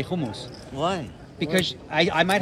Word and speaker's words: hummus: normal English and then you say homos because that's the right way to say it we're gonna make a